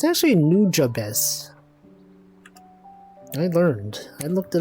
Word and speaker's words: Nujabes: you all know that his name is not new hobes I always thought it was pronounced new hobes it's actually nujabes I learned I looked it up it's nujabes